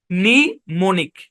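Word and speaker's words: mnemonic: এটা হচ্ছে সে শব্দ এমটা সাইলেন্ট হ্যাঁ সাইলেন্ট এখানে এ বরাবর ভাগ হবে নি মনিক নিমনিক এটার উচ্চারণ নি এপাশের উচ্চারণ মনিক নিমনিক একটাই শব্দ খুবই আনকমন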